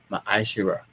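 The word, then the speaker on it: מעשר: And it means tenth in the Hebrew, and it's pronounced ma'ashira, penny of any increase that the Lord gives you, give to the treasury department or teacher.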